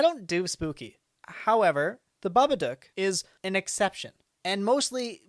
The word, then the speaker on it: Babadook: movie stems from australia the way that accent word pronounced that and the way the director has pronounced that is babadook which is to its